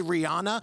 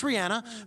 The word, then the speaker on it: Rihanna: That's the proper way to say it. I know a lot of people say Rihanna. It's Rihanna.